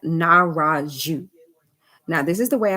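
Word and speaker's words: Nahrahdju: that's how it's pronounced the dj like that part has to be pronounced jew so pick it apart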